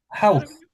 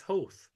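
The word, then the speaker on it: Howth: Well, how did you pronounce that, Liam? Health. Health? No. It's I'd say health. It's Hoth.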